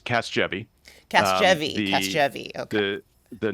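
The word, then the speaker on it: Casgevy: to mispronounce it but is it Caskei? Casavi. Yeah. Thanks. It's Casvy.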